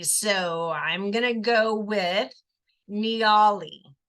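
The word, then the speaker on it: Niaouli: So I'm gonna go with Nioli. Nioli. Nioli. It's N-I-A, Nia, but it doesn't sound like Nia. O-U-L-I, which sounds like owly.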